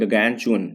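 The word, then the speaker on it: gargantuan: चु अन गगन चुन ये जो लिखा हुआ है ना जी आर एस में साइलेंट होता है इसको पढ़ते हैं गगन चुन ठीक है एडजेक्टिव होता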